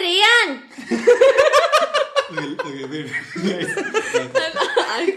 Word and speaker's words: Rayan: Because I know that in college you're Ryan. At home you're like, hey Rayan!